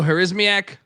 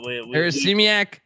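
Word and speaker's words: Harasymiak: Remember, how do I pronounce our guy's name again? Who's the UMass head coach now? Joe Harismiak. Yeah, Harismiak.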